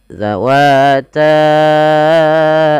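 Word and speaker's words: ذواتا: Pelafal zal, hati-hati ya teman-teman, jangan sampai dibaca lagi dengan huruf zai. Ini keliru dan tergantikan, nanti jadi maknanya berubah. Dia za. Ujung lidah nempel dengan gigi seri atas kita.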